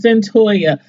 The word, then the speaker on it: Cyntoia: I'm like, Cyntoia, how do you pronounce that name? But anyway, it's Cyntoia.